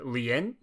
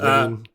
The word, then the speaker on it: Lien: We're forced to save her kidnapped ancestor, Queen Lien. I don't know if that's how you pronounce that. I think it's just Lean. Queen Lean. Lean? Is it really just a Lean? Well, yeah, because it's Marlene, as I think.